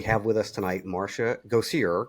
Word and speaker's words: Gosier: Go see her. Correct. Yes, correct. Go see her. I pronounce that correct.